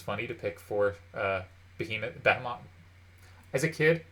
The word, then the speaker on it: behemoth: to pick for uh behemoth batman as a kid i said bethem off and it's really hard to get out of my head but it's behemoth there are a bunch